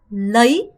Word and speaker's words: lấy: lấy. 여러분 얘는요. 어가 짧고 y의 강세가 들어간 발음이라서 lấy 가 아니라 lấy 라는 동사입니다. 얘는요.